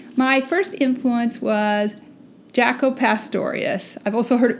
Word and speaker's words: Pastorius: these bass players my first influence was Jaco Pastorius I've also heard it pronounced Jaco Pastorius he was a legendary bass player he came